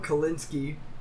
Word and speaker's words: Kalinske: The Sega CEO at the time, Tom Kalinske, I'm assuming that's you pronounce the E.